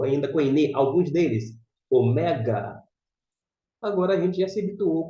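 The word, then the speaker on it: ωμέγα: português mas aqui ó esse assento indica a sílaba tônica Mega Omega o mega custo meramente como eu disse a gente fala Ômega Mas se for ler ao pé da letra o mega e como é que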